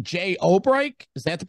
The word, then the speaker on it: Obrecht: Jay Obrecht, is that the pronunciation? I think it's Jazz Obrecht.